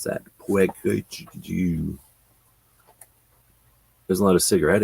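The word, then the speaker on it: Peugeot: That's how you pronounce that. Puig.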